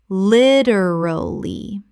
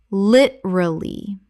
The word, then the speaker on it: literally: Common mispronunciation. Literally. Correct pronunciation. Literally. 3 syllables in natural speech. The second syllable almost disappears.